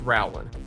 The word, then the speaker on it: Rowland: Though I do want to point out that it is pronounced Rowland.